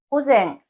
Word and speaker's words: 午前: 1번으로 오전은 한자로 낮자에 앞 전자를 쓰고 고쟁 고쟁이라고 발음합니다.